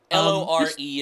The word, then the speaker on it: Lore: laura laurie but whatever l-o-r-e is how you spell it i think it's mark lore right like folklore um what's really interesting